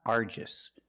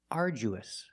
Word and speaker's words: arduous: letter to my friend the pronunciation of this word is not Aris we don't say argis the pronunciation is uous uous and it means very hard uous the du makes the J sound like jump and Juice RJ we use a long u like food and boot U together arju arous